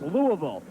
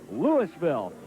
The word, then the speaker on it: Louisville: We're used to seeing Louisville playing in March Madness, and it's pronounced Louisville. In Nebraska, it's pronounced Louisville.